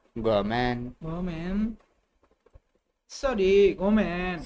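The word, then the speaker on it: ごめん: ঘুমেন না গমেন Gomen. Gomen. ごめん。 Gomen. গমেন sorry গমেন すみません。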